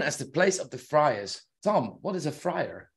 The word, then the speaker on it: Friars: friars? No, Well, it's spelled Friars. Yeah, but have you heard of Friar Tuck?